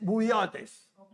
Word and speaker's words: bouillotes: Que en bolsas de agua en ladino se dice bouillotes. Como en bouillot, como en francés. Bouillot.